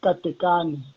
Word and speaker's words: Katekani: to the people okay uh my name is cathy khan okay okay i've been calling it right